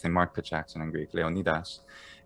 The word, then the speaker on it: Leonidas: mark the jackson angry leonidas and the ass ending is also typical of doric where the letter eta e is normally ah in doric which is like um